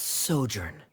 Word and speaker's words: sojourn: Director Zosimos, how do you pronounce this word? Let me see. Ah, that's sojourn.